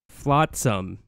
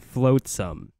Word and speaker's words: flotsam: Flotsam, not Floatsam.